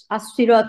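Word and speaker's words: الصراط: হচ্ছে ইসুন মারেফা এবং এটার হচ্ছে আলের কারণে আসসিরত মানে এখানে স আল লা উচ্চারণ হচ্ছে না তাহলে এখানে হুরুফা শামসিয়া হয়েছে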